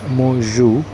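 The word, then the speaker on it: Mạc Cửu: There was a Chinese refugee, his name is pronounced as Mo Zhu.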